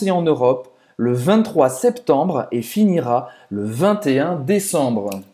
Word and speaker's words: septembre: Donc, le 23, septembre, dia 23 de setembro. Septembre. Septembre. A gente fala o septembre. Septembre. Essa vez não é mudo.